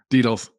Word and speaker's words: Dedels: And today we have Dedels. I think I'm pronouncing that correctly. Correct me if I'm wrong. It's As Dedels. our, it's Dedels? Dedels.